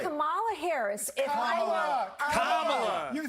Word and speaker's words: Kamala: Holy Let me actually pronounce her name right. Kamala Harris. Kamala.